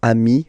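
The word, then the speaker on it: amis: in that case and as in most of the cases you won't pronounce it but you will have to put it okay and so you've got de am okay and if you make the the Le so the link between the two you will get okayi so Ami remember doesn't change even if you you get to write the S then you don't pronounce it okay and now let's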